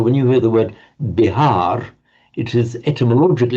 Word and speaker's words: Bihar: And we know the name of the state of modern India, Bihar state.